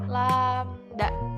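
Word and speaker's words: lambda: seperti yang ada di dalam kurung nah ini dibacanya adalah lamda Oke sedangkan panjang gelombang adalah jarak antara pusat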